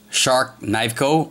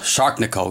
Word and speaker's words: Sharknivco: The knife maker is Edison Barahas, otherwise known as Shark Knifeco or I'm going to screw this up. Edison, I apologize. He pronounces it a different way. Uh, Shark Nico, Shark Nico, but most people pronounce as Shark Shark Knife Co.